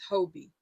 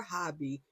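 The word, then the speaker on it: Hobbii: nonetheless let's start with Hobie or hobby depending on how you say it I first must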